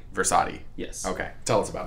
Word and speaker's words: Frassati: Frassati. Frassati.